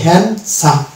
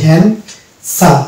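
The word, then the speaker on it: handsome: কে শারীল পাবো যেমন এখানে আছে হ্যান্ডসা এই যে ডি এই ডি কে আমরা উচ্চারণ করবো ডি কে উচ্চারণ করলে হয়তো হ্যান্ডসাম কিন্তু হ্যান্ডসাম নয় এটা হচ্ছে হ্যান্ডসাম এই যে এখানে লিখেছি হ্যান্ড সাম এখানে ডি কিন্তু বাদ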